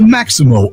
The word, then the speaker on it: Maxymo: The Maximo app, which is spelled Maxymo, it helps Uber, Lyft, and Grubhub